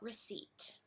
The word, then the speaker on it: receipt: next let's talk about receipt hmm there's no P sound in it that's right folks the P is silent and let's talk about